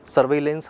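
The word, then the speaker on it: surveillance: जैसे मतलब इसका अगर एक्चुअल प्रोनाउंसिएशन हम लोग देखने की कोशिश करें, इसका उच्चारण देखना चाहें तो सर्विलेंस ही बोला जाएगा।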